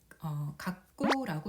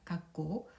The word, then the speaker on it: 学校: 근데 이 초금도 한 박을 가지니까 네 박자로 발음을 해줘야 됩니다.